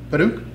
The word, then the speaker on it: Padauk: Padauk? Is that how it's pronounced?